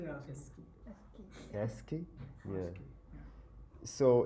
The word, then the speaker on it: ASCII: I don't know how guys pronounce this. Yeah, we say ASCII.